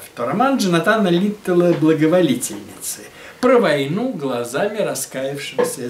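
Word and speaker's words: Литтелл: «Ударение на «э», – сказал Петров. Литтл. Он хотя с английской фамилией, но француз. Поэтому надо говорить Литтл.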